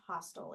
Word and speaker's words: hostile: I think it's pronounced hostile, even though it has a E at the end, hostile.